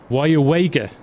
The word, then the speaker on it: Weyauwega: Can we hear you pronounce this town? Yes, it's Weyauwega.